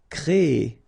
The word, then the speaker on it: créer: Créer. So it's quite interesting, sorry, here, because first you will have this C-R-E accent aigu, so you get the créer sound, and after that you get this E-R sound, so E.